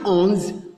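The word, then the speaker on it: onze: Please, sometimes I notice that you pronounce a on with this ons the same. No, this one is ons.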